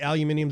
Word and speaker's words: aluminium: it's like you're aluminium technically aluminium is the right way to say is it yeah is right but it's not we just we're too stubborn and don't want to add the extra I nope don't like that